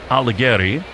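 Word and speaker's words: Aldegheri: It's Sam Aligeri.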